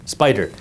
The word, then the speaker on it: SPDR: By the way, Spider is SPDR, pronounced Spider.